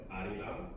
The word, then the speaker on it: Arirang: So we have Arirang. So everyone say Arirang. Arirang. Arirang. Arirang. Arario. Arario. Yeah, so that R is it's kind of like an L. It's actually an L in the Korean alphabet, but I don't know when it's romanized.